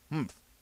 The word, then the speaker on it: humph: "Humph," said the sand fairy. If you are reading this story aloud, please pronounce humph exactly as it is spelt, for that is how he said it.